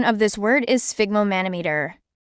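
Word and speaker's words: sphygmomanometer: used in cooking originating from orar England the pronunciation of this word is spigo manometer spigo manometer spigo manometer it's an instrument for measuring blood pressure the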